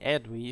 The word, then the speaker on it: Aedui: Hello everyone, today we talk about the Aedui, or the Aedui if you prefer.